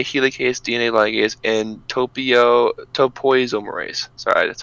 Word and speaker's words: topoisomerase: dna primase dna helicase dna ligase and topio topoisomerase sorry that's how to pronounce that so those are the main ones